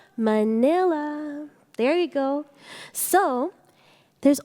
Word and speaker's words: Manila: to pronounce Filipino names if you see the letter A it always sounds like ah just like you say Manila everyone say it 3 2 1 Manila there you go so